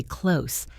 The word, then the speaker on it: clothes: The ths sound is very hard in words like months or clothes. Pronouncing the th and the s clearly is a gymnastic feat for the tongue. Here's a secret. Native speakers cheat. For the word clothes, we almost always just say close, like close the door.